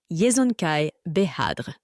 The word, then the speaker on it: Yezonkai Behadr: de temouine au conquérant le nom du père de genjiskanan est un mot qui ne peut pas être prononcé exactement en anglais il sonnait quelque chose comme cela yzonkaai behadre le nom tel qu'il